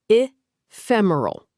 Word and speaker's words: ephemeral: ephemeral Pronounced i-fem-er-al.